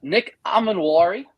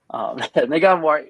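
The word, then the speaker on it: Emmanwori: Nick Amenwari, as Ben made fun of me for how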